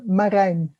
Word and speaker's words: Marijn: It's a difficult Dutch name. Marijn, remember?